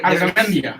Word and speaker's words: Arzamendia: Arzamendia. That's how you say it.